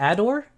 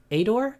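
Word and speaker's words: ADOHR: her area is ad how do you say the adore adore adore a-d-a-d-o-h-r uh asian dolls of hampton roads okay so that's that's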